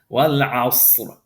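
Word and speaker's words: والعصر: So this is wal asr. We're going to pronounce this ra heavy. Wal asr.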